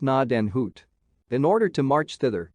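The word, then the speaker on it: Gnadenhütten: one of the forts 103 pronounced NAD and Hoot in order to March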